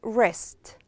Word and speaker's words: wrist: And we have here wrist. W is silent.